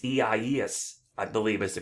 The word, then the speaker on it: Isaias: have an interesting name it's a spanish name um it's ies i believe is the